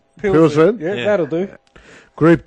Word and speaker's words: Pilsen: Astra taking on Victoria Pleasant. Pilsen.